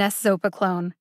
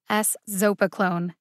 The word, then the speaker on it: eszopiclone: episodic migraine in adults there are four syllables in a zopa clone the emphasis is on the second syllable zo one more time s zopa clone the hardest part of